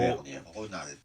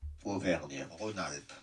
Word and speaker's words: Auvergne-Rhône-Alpes: सो आई am going to गेट the accurate pronunciation of this reason. और वो Auvergne-Rhône-Alpes. Auvergne-Rhône-Alpes.